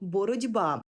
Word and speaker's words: боротьба: як явище називається уподібненням слово боротьба пишемо з літерою Т боротися а вимовляємо і чуємо боротьба бо глухий ті уподібнився під впливом дзвінкого би до ді зверни увагу сумнівний приголосний